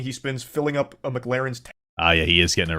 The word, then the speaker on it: McLaren: spends filling up a McLaren's tank okay so this part pisses me off because he says the name wrong like eight times in a row it's not McLaren it's McLaren okay so that's how